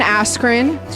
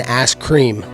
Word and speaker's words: Askren: Ben Askren. You said it wrong. It's Ben Askren.